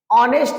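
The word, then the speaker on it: honest: स्तर होता है अ मिला इसको पढ़ेंगे एन ऑनेस्ट स्तर होता है मेरे दोस्त ऑनेस्ट ऑनेस्ट बोलो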